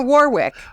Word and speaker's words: Warwick: that are you L stop stop it's in Warwick War Warwick war war It's a Great British